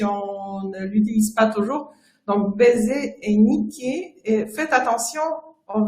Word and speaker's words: baiser: n'a pas noté mais il ya une différence entre baiser mpc dans la prononciation importante ça veut dire mon pc par exemple baisser les rideaux la tête attention si vous venez à dire de baisse c'est quelque chose pas tout à fait la même chose surtout dont